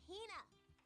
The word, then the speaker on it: Hina: You keep saying it wrong. It's Hina.